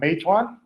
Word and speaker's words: Meituan: And they've invested in Uber, in Swivel, e-commerce platforms in Asia like Meituan. Ben, you can correct me on the pronunciation of that.